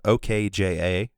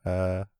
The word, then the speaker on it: Okja: Called it's spelled OKJA, so Okja.